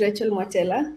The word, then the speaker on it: Rachael Mwatela: So Tato, you have not butchered my name. Don't worry. My name is Rachael Mwatela.